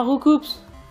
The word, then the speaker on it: Roucoups: on n'est pas censé dire Roucoups, on est censé dire Roucou. C'est le doubleur officiel de... Enfin, le doubleur, le traducteur des noms des Pokémon qui l'a dit. Et ouais, on n'est pas censé prononcer le PS parce que...